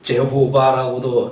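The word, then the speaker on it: Jehovah: 여호와는 보통 영어 성경에서는 제호바라고도 이렇게 발음하고 그러는데요. 원래 히브리 사람들은 그렇게 자음을 써놓고 이 제호바라고 우리가 보통 영어로 읽는 그 표현이 실제로 모음이 없습니다.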